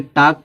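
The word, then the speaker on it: talk: लोग ल्क पढ़ते हैं अब देखो इसको टलक नहीं पढ़ेंगे टाक पढ़ेंगे क्यों क्योंकि एल के बाद क्या आया है के आया है जब एल के बाद के आएगा तो य क्या रहेगा साइलेंट रहेगा इसको क्या पढ़ा जाएगा टाक पढ़ा जाएगा इसको हाफ बहुत हाफ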